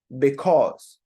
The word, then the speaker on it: because: very good because because because remember the sound is just o o both of these